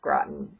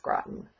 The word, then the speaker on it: Groton: I believe it's pronounced Groton it looks like grote but I think it's pronounced Groton it's just outside of